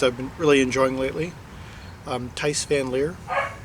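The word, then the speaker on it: Thijs van Leer: Tice Van Leer, I believe it's how it's pronounced.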